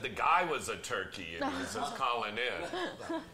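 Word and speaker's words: Türkiye: know that oh yeah turkey did change the pronunciation of their name turkey a now for the West it's called turkey a yeah because they didn't want to be a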